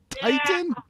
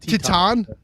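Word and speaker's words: Titán: Titan? It would be pronounced Teton.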